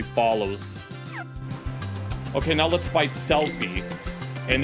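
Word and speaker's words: Selphie: Oh, and this is Selfie.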